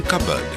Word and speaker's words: cupboard: in walk the beat is silent in cupboard the S is silent